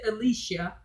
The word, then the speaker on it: Elisha: out to elisha e-l-i-s-h-a some people pronounce it alicia but she cried out